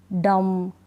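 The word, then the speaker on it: dumb: तो यहाँ पर बी का उच्चारण नहीं होगा, बी को हम नहीं पढ़ेंगे। चलिए स्पेलिंग्स पढ़ लेते हैं। बॉम्ब, टॉम्ब नहीं, बॉम्ब, टॉम, डम, क्लाइम, कॉम, लैम, थम।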